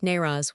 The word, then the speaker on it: Nowruz: The Nowruz, or New Year's Day here as in Syria, locally pronounced Nayraz, was established in ancient